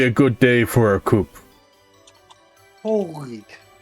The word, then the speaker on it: coup: good day for a coupe holy week you don't pronounce the p you don't it's just a coup you just say wait